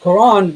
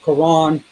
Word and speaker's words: Quran: He recited the word without the Hamza, such that Quran would rhyme with the English word lawn. So Quran, lawn.